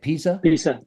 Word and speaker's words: Pisa: Pisa, sí.